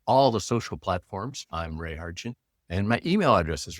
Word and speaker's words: Ray Hartjen: Just use my name, Ray Hartin. Uh it's spelled R A Y H A R T Jen. That's my website on all the social platforms. I'm Ray Hartin.